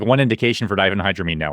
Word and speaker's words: diphenhydramine: I can't remember how to pronounce the generic. Diphenhydramine.